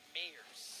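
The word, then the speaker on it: Myers: Yep, going up against Team Ronin, Alex Mayers. That's right. It's the German pronunciation.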